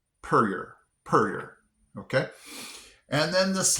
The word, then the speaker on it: Puryear: This next one, I in my mind, I think I would have said Puryear. Puryear. Well, yeah, it's pronounced Puryear.